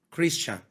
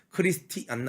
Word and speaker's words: Christian: CHRISTIAN 크리스찬. 예, 크리스티안 아니죠. 크리스찬이라는 단어예요.